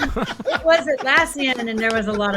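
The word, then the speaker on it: Atlassian: he's notorious for misspeaking I used to call it alian you know I was like I don't even know why Al Asian I don't know why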